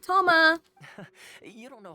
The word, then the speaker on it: Toma: gotten to know recently I was right I pronounced his name right Toma you don't know how long I've been waiting